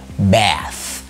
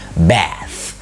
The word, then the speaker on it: bath: الاي بيتنطق مش لما بيبقى جاي بعده th، زي bath، حمام. ما بنقولش bath زي البريتش او البريطاني، bath. لو الاي جاي بعدها th